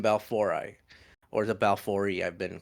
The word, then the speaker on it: Monocentropus balfouri: balfouri, or the balfouri. I've been corrected recently by a Latin speaker. So it's pronounced M. Monocentropus balfouri, and they are the most communal tarantula in the world.